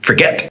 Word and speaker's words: forget: to double that t the same with forget you can hear that the get is the strong part of the word the start of it is more like a rather than a four it's forget and so that tells